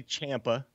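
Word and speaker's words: Ciampa: NXT champion in in Tomaso Champa uh impact pronounce that correctly Champa yes impact is putting on apparently amazing babe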